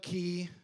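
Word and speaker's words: cay: And then, but it's spelled C A Y. I don't know why they do that. It's like K, but it's key.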